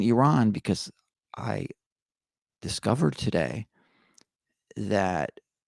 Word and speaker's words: Iran: with our players for pronouncing Iran as Iran now I always said Iran myself so now that I know that it's Iran I'll say Iran but here's the thing